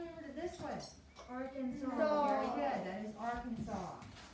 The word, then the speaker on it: Arkansas: So it looks like A-R and the word Kansas, but it is just one word. And it's not pronounced Arkansas, it's pronounced Arkansas.